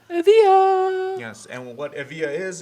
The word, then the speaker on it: Evija: It's pronounced it's spelled Evija, but according to Lotus, it's pronounced Evija. Evija!